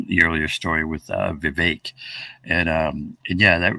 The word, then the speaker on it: Vivek: do you pronounce riveting I heard him say the other day that you know it's a fake like cake um but the way I'm telling everyone to remember it it's uh just remember it as a it's for vague like fake that's my tip for